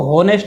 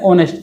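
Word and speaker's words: honest: इसमें भी एच आ रहा है शुरू में, लेकिन इसको होनेस्ट नहीं बोलते, इसको बोलते हैं ऑनेस्ट। एच साइलेंट है इसका, ऑनेस्ट।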